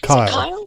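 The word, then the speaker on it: Cyle: try tell me what your first name is kyle yep and my my name is spelled funny it's a c-y-l-e okay and my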